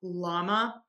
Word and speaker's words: LLaMA: I can't remember who produces llama, but it is pronounced the same as the animal llama.